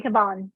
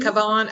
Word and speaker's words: Cavan: Yeah, County Cavan. Is it Cavan?